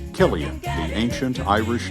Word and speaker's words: Cillian: 2023 was the year the world learned to pronounce Killian.